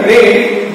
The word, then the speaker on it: read: याचा रीडचा रेड झालेला आहे फक्त उच्चार बदलतो म्हणून याचं मूळ रूप जे आहे ते स्पेलिंग तेच राहील READ रीड अ स्टोरी.